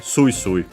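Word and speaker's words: すいすい: Accent on the first mora, so yeah, sui sui.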